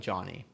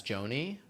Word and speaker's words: Jony: I was gonna say so I I pronounce my name like Johnny but I spell it horribly.